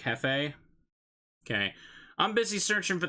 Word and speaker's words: jefe: Spanish, you say it like jefe?